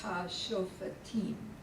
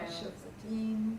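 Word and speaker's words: השופטים: Yeah, see, the way they would say that is Hashofatim, because of the Holam. The Holam's a long, Yeah, it's a long vowel. Hashofatim.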